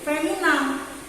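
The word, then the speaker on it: féminin: Yang ini feminam. Jadi ada maskulan, ada feminam. Tapi tidak ada maskulan.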